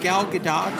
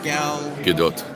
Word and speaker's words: Gal Gadot: Is it Gal Gadot or Gal Gadot.